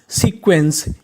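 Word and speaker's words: sequence: इन का मतलब में, SECQUENCE सीक्वेंस, ENCE। आखिरी में लिखा है ENCE, इसे पढ़ते हैं एंस, यानी आपको ENCE लिखा मिले तो उसका उच्चारण करना है एंस।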